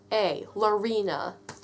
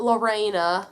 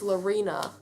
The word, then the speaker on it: Larina: My name is L-A-R-I-N-A, Lorena. Not Lorena, L-A-U-R-I-N-A. No, it's Lorena. It's pretty much exactly the way it sounds if you say it right.